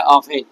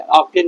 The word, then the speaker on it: often: प्रायः का होता है ऑफेन, OFTEN होता है, ऑफ्टन नहीं पढ़ेंगे आप, इसका उच्चारण होता है ऑफेन।